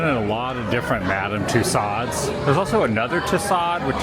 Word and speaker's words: Madame Tussauds: It's Madame Tussauds.